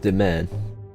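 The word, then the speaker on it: demesne: Yes, pronounced Demen.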